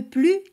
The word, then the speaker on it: plus: Quand l'adjectif ou l'adverbe commence par consonne, on ne prononce pas le S de plus, mais la liaison est obligatoire devant une voyelle ou H muet. Par exemple, le plus timide.